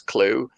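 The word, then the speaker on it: Klugh: So they spelled it K L U G H. It's like we're going to call her Miss Clue, but we'll spell it differently.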